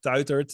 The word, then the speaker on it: Tuitert: So you can follow me on Instagram, on LinkedIn, just by my name, Mark Tuitert. It's hard to pronounce in English. You did it quite well, actually. Tuitert.